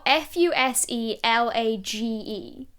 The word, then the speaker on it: fuselage: an American accent obviously so it's like the fuselage so I I presumed it was spelled like Lodge it's not spelled Lodge No so it's not spelled it's spelled f u s e l a g e Fus so it is pronounced fuselage oh okay